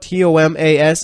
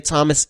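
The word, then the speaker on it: Tomáš: solder on skis at Thomas or is it Tomas alright it's spelled t om a s I think that's Tomas alright so Tomas solder on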